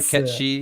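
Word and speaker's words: gacha: like uh more like kate sith's uh sorry ketchie is how you pronounce it oh catchy that's more like i know a lot of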